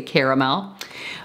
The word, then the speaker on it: caramel: It's spelled with an A, C-A-R-A, so I say Caramel.